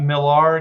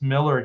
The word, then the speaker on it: Millar: is really PR yeah I always thought Millar because it's got a a but yeah it's just Miller he says Miller uh but he doesn't